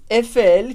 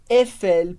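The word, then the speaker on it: Eiffel: que construiu a torre a gente diz efel porque as letras e em francês também dão o som e como em clire ela repete comigo efel e agora com a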